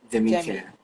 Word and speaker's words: Demicare: It's demi demi care. What does it mean? Okay. Uh demi care is um named after the princess of the house.